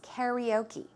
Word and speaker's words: karaoke: in Korean right but the English way of the American English way to pronounce it is karaoke karaoke okay so she